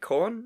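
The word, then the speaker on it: Korn: what is this awesome new music is that corn am i pronouncing that right corn yeah one yeah everyone's wearing leather so you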